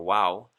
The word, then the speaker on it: vav: little more confusing like the letter vav sometimes pronounced as a w by some and we have vav or wow and then we also